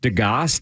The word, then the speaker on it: Degas: Degas is how it's pronounced according to this French impressionist, realist, as you well know, a superb draftsman.